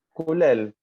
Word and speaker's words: Culiel: ¿Cómo es Culiel? ¿Cómo se dice? Ahí lo te escucho. Culel. Culel.